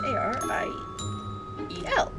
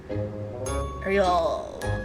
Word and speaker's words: Ariel: She is A-R-I-E-L. Not We don't need Ariel. That would be a weird pronunciation. Ariel. There we go.